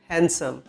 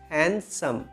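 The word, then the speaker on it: handsome: तुम हैंडसम लग रहे थे या फिर दिख रहे थे, यू वर लुकिंग हैंडसम। इसमें गाइस डी साइलेंट होता है तो डी को प्रोनाउंस नहीं किया जाता, इट्स हैंडसम, okay, not हैंडसम।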